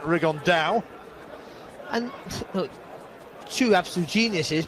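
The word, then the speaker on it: Rigondeaux: fighting rigond though or as he's correctly pronounced with the uh Spanish accent rig on Dao and look two absolute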